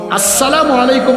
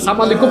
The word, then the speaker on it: আসসালামু আলাইকুম: আসসালামু আলাইকুম মানে আপনার উপর শান্তি বর্ষিত হোক, আর সালাম আলাইকুম মানে তুই মরি যা।